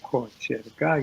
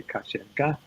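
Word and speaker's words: кочерга: It's Kacherga. Syllable by syllable, Kacherga. You say Kacherga in speaking.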